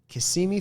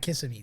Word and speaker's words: Kissimmee: friend noah down to kissimmee florida yeah i'm not kissing me do not say kissing me did i say it right it's easy you see me yeah he's like good